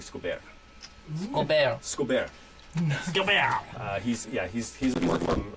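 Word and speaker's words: Escobert: Yes, but he's got a bit more of a French, as we would know, as a French pronunciation to his name. So it's actually Scobert.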